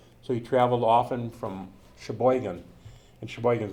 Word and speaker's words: Sheboygan: that's how he survived so he went to shebogan or Sheboygan and he traveled from Sheboygan on a bus